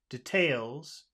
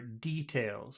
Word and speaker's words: details: Now that's a funny word because some people say details and some people say details. So it could the accent could be either way. I prefer details. I prefer it on the first syllable.